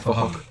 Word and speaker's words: Phuc: His name was Phuck, but spelled with a PH, so it Sounds like Phuck.